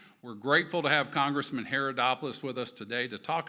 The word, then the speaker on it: Haridopolos: But first, please join me in welcoming Congressman Haridopolos to the stage. Thanks, Ted. You bet. Thanks, Congressman. Thanks. Yeah, when I when they pronounce my name, they're like, "Haridopolos?" I said, "No, Haridopolos."